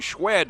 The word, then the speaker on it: Schwed: pickup of a couple Dylan schwed it is pronounced schat on the tackle for